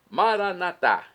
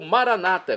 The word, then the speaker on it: Maranatá: Maranatá, como dizemos nós católicos, ou maranata, como dizem nossos irmãos separados, os evangélicos ou protestantes. Não importa, pronúncia, o significado é o mesmo.